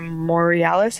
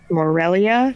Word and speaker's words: Morelia: Obviously, they're a Morealis. Is that how you say it? Morelia, thank you.